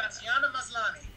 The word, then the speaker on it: Tatiana Maslany: I can't pronounce that name, though. Terrible. Tatiana Maslany.